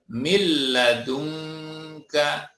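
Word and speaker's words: مِن لَّدُنكَ: Kita pun membacanya min ladunka, dibaca milla, mil ladunka.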